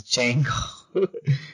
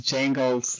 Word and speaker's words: Django: Yeah, he told me the D is silent, so I have to stop saying that. It's Django. It's Django / Zorro.